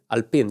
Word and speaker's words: Alpine: Alpin. Yeah, it's a French pronunciation.